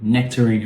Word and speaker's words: nectarine: Nectarine. Remember, like watermelon. It is also a schwa, so nectarine, not nectarine.